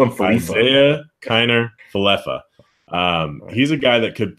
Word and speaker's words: Isaiah Kiner-Falefa: Rangers, we might as well just throw in Isaiah Kiner-Falefa. That's how you pronounce it. Good to know. I've always wondered that. I would call him Falefa. Isaiah Kiner-Falefa.